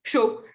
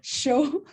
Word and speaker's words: show: Show, je prononce juste show, OK. mais c'est bien le mot anglais. J'ai pensé que c'est chaud. Ah non, non, non. On pourrait croire. Mais non, c'est le show comme en anglais.